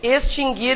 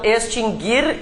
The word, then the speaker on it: extinguir: dois verbos nunca tiveram trema porque o u nunca foi pronunciado mas Há muitas pessoas que pronunciam o né então extinguir e distinguir inclusive todas as suas conjugações nunca teve trema o nunca foi pronunciado nada mudou então né tá